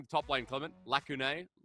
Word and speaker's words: Lacunae: Lacunae? It actually is an English word, and it's pronounced Lacunae, which means unfilled gap.